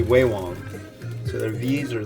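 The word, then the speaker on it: Vewong: But there's also a brand called that looks like it says V Wong, V-E-W-O-N-G. It's actually Wei Wong.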